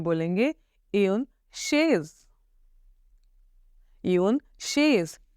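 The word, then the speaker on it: chaise: Okay, तो चेयर को हम फ्रेंच में बोलेंगे एन शेज। एन शेज, CH, the pronunciation of CH इज श, शेज, एन शेज।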